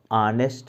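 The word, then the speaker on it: honest: लेकिन प्रोनाउंसिएशन की जो इस वर्ड की बिगनिंग है वो अ से है, ह से नहीं है। एच का जो सामान्य उच्चारण ह होता है वो नहीं है, बल्कि अ, ऑनेस्ट मैन।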